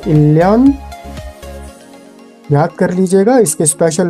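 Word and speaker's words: 일년: Number 2 को देखिए आप, उदाहरण को, इल neon will be pronounced as इल्यान।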